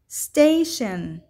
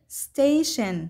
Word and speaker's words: station: هنا لدينا كلمات تنتهي ب T I O N وتلفظ شن شن، مثل كلمة lotion lotion وتعني المرطب، station station وتعني المحطة.